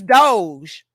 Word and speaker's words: Doge: to put don't G so it's Doge okay okay we got it but that still don't rhyme with chose but wrong with chose would be those but okay you say